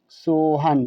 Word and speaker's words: सोहन: यहाँ पर है SOHAN, तो इसे हम पढ़ेंगे सोहन। क्या? सोहन। हमने यहाँ पर सोहन लिख दिया। एस से सा, ओ से ओ की मात्रा, H से ह, ए साइलेंट रहेगा, एन का मतलब ना हुआ सोहन।